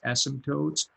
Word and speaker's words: asymptotes: to spell this but you don't pronounce the p right it's asymptotes and what are the